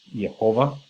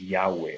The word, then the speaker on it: Yahweh: And scholars actually think that the way to pronounce this is Yahweh, although in reality nobody knows for sure how this word should be pronounced.